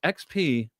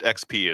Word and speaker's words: Xp: Uh it's XP. Uh it was pronounced XP is what uh Kan and I pronounced it as.